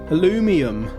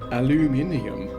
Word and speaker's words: aluminium: aluminum I say aluminum what about the rum alumium if you're going to pronounce it like that you need to get the rum in there come on folks they